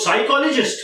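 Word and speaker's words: psychology: Okay, सो साइकोलॉजिस्ट का मतलब है आपके साइकी प्रोनाउंसिएशन पे ध्यान दीजिए, अथवा आपके माइंड को पढ़ना, साइकी को पढ़ना.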